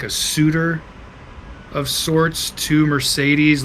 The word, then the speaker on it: Mercedes: I feel like it is Mercedes.